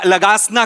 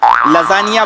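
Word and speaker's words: lasagna: दिवशी आपण हा खाऊया लगासना खाऊया लगासना तुमच्या बापानी केला होता लगासना लजानिया बोलता येत नाही स्पेलिंग वाचून लगाना बोलता तुम्ही तुमच्या बापाने केला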